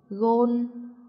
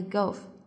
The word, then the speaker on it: gôn: 的，所以我们就读 gôn gôn gôn，而不是读像英语一样的 golf。